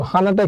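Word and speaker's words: 하나: হানাটা কিভাবে হলো আমাদের প্রথমে আছে হচ্ছে হিউ হিউতের সাথে আছে হচ্ছে আ তাহলে হবে হা আর পরেরটা আছে হচ্ছে নিউ নিউ এর সাথে আছে আ তাই হবে না তাহলে উচ্চারণ হবে হানা আর হানা মানে হচ্ছে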